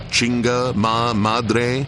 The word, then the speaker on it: Chinga Madre: tipster one chinga Madre am I pronouncing that right one how did you pronounce my last name chinga Madre ah perfect ombre tell us what